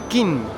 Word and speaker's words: Qin: China se llama China por King, que en realidad acá se pronuncia. Entonces, King es el emperador.